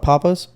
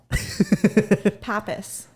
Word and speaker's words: Pappas: You're talking about Papa's? Yeah. The restaurant? You're telling me it's not like Papa? Pappas.